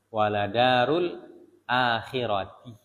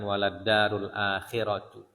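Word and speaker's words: ولدار الآخرة: Waladarul akhirati. Bacanya dengan akhirati. Jadi dia hukumnya mudhafun ilaih. Waladarul akhirati. Ya, bukan waladarul akhiratu, tapi darul akhirati.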